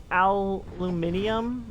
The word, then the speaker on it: aluminium: Aluminum. Whereas some people like to say aluminium, I think is how they pronounce it, which is a choice.